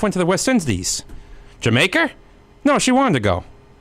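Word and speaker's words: D'yer Mak'er: fun cool but ya don't pronounce that song Dyer maker whatever you do it's Jamaica this next song is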